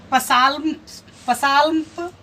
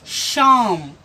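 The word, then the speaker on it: psalm: तो इसे हम पसाल्प या साल्प नहीं पढ़ेंगे, इसे पढ़ेंगे शाम। इसे पढ़ेंगे शाम। चूंकि पी एस का कॉम्बिनेशन है तो पी साइलेंट हो गया।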